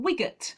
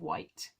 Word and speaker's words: Wight: the wonderful isle of wight or wigat as some people like to pronounce it but it's not it's the isle of wight future ventura see i